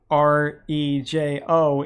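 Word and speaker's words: rojo: Yes, and Reiho, Rejo, is how you say red in Spanish.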